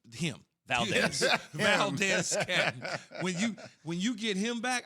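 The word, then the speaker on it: Valdes-Scantling: Valdez Scantling. Him. Valdez. Valdez Scantling.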